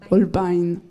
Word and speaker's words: Holbein: qui s'appelle Un message caché selon, alors, la prononciation Holbein ou Holbein ? Holbein, voilà.